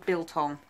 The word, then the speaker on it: biltong: Can you pronounce it for me? Biltong.